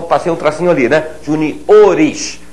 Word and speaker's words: juniores: um tracinho ali né Juniores Essa é a pronúncia J ores da mesma forma Sênior seniores a célula tônica avança a gente ouve muito